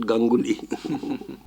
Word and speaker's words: Ganguli: When as a child, I used to play Danguli, which rhymes with my title Ganguli.